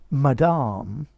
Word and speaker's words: madame: You could probably try it in French, madame, madame, but you need to watch the pronunciation. How can I help you, madame? Excuse me, madame. Yeah, as opposed to madam, madame. That sounds quite polite as well.